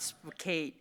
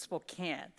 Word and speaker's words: Spokane: It's not Spoke, it's Spokane." So, I am very honored to be here today at Spokane.